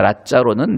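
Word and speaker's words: Lazzaro: 행복한 라짜로라고 하는, 그러니까 라짜로는 나사로의 이태리식 발음입니다.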